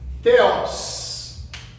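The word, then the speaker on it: θεός: Teos. Teos. Teos em grego. Deus. Ó, como nós pronunciamos?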